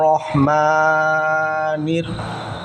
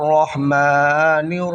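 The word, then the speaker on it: رحيم: মিমের ভিতরে এক আলিফ এখানে টান হবে আর রহমানির নুন গিয়া র ধরেছে কারণ রপরে আছে হলো তাশদিদ তাশদিদ থাকার কারণে নুন গিয়ে হলো র কে ধরেছে আর রহমানির রাহিম রহিম এখানে আবার এখানে তিন আলিফ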